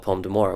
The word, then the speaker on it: Pomme d'Amour: And for our personal story, and the reason why we're using them, is we have a perfume called Pomme d'Amour, which you say a lot, you pronounce it a lot better than I do.